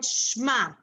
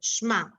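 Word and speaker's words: שמע: called blended or not if you can blend it then it is silent which means in here i can blend this so it's silent like in the word shma i can blend it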